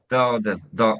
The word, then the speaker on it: Dowdeswell: Dostwell. I can never say your name okay. I'll come back Dostwell, but very close. Dostwell, okay. Two syllables.